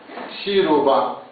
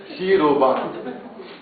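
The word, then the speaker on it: シルバー: Shiruba. Shiruba. Shiruba. Silver. Ok? Silver. Porque o S, o SI, o CI, o japonês pronuncia shi.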